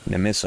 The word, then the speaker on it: Nemissa: Nemissa. Okay, that's how you pronounce it.